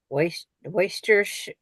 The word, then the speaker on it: Worcestershire: Worcestershire. That's the Here. correct pronunciation.